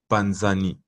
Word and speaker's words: panzani: Mais en lingala, on va prononcer panzani.